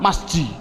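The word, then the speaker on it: مسجد: Adapun bagian awalnya, ada tulisan mim, sin, jim, dal, bagaimana cara membacanya? Masjid. Mengapa dibaca sebagai masjid? Mengapa tidak dibaca saja sebagai misijid?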